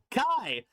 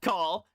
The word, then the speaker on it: Kai: Oh, that is an I. Kai. Not call.